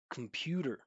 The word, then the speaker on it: computer: Listen to this computer. Computer compare. Look at my mouth movement. Right? I'm not just making the the the stress syllable bigger with volume or pitch. I'm literally amplifying it with space.